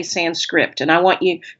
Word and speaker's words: Sanskrit: to know that the the pronunciation that you gave is correct sans script with a t it's not sans script script is an English